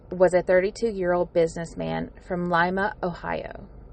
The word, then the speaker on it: Lima: William Vernon Bates was a 32-year-old businessman from Lima, Ohio. Could also be pronounced Lima, Ohio.